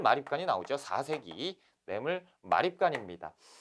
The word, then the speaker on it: 마립간: 따라 는 거죠 내 몸을 만 입단이 즉 마립간 아아 음 내 몸을 왕 이라고 써있으면 내음을 왕 이라고 쓰고 말이 거 아니라고 읽는 거예요 그렇죠 근데 왜 선생 왜 마왕